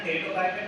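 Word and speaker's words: Pteridophyta: यहाँ देखना टेरिडोफाइटा टी से बोलते हैं, मींस पर टी साइलेंट है यहाँ पर।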